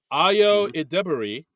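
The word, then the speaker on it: Ayo Edebiri: Because the host of next week's episode, they put it out, is I wrote down how to pronounce her name so I don't screw it up. Ayo Idebiri, and musical guest J-Lo, Jennifer Lopez.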